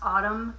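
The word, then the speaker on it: ATUM: enjoyed the latest Smashing Pumpkins album um it's pronounced Autumn but it's spelled at T M it's like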